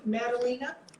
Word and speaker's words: Madalina: Well, everyone, am I pronouncing it correctly, Madalina?